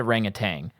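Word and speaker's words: orangutan: cuz I've been saying I've all my life I've said A Rang of Tang and then it's spelled a ring of tan so I started saying that cuz I thought maybe it would make me sound smarter but they're saying A Rang of tangs in this so I'm going back to A Rang of tangs it feels much better and it reminds me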